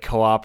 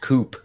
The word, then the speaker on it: co-op: I have been pronouncing that as just coop. And I think in my brain, I assume it's co-op because like that's the idea. That makes way more sense.